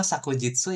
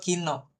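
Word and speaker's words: 昨日: Yang pertama sakujitsu yang ini. Yang kedua kino. Tapi kanjinya sama, cara bacanya beda.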